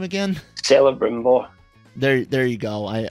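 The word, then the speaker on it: Celebrimbor: that that makes the rings how do you pronounce his name again saleh brimbo there there you go i i knew i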